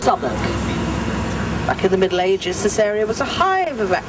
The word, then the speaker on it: Southwark: So we've come into the south of the river to an area called Southwark, spelt Southwark, but pronounced Southwark.